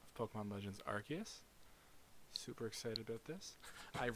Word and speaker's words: Arceus: I am that which humans call Arceus. Apparently confirmed that is how you pronounce it.